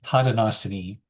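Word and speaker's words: Haudenosaunee: Hadosini. Hadenosini.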